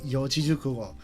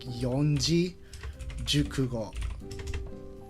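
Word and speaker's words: 四字熟語: know how to say yojijukugo. Like when she first pronounced it, she was like yonji jukugo. But then everyone in chat was like correcting her and stuff, and that's how she learned it.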